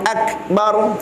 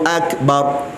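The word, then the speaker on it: أكبر: Allahu Akbar. Gitu. Bar pula dibaca dengan isti'la, sebab ra mati, huruf sebelum dia berbaris fathah atas. Maka bacanya bukan bar, bukan bar gitu. Bar, dikembungkan mulut. Allahu Akbar gitu.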